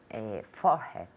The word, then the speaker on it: forehead: Forehead. Good. Repeat. Forehead. All right, muy bien. Forehead. Forehead. Claro, four se pronuncia igual cuando dices el número 4.